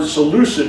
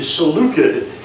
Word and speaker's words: Seleucid: current pronunciation is actually seleucid empire um the this the c that i thought was an s sound is actually a k sound i discovered that when